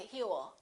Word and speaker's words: he'll: Remember, don't pronounce that W. A lot of my students still tend to put a little W and they say he'll. It's not he'll, it's he'll. He'll.